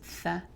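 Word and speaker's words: ث: it that way, but you don't want to add a whistling sound to tha.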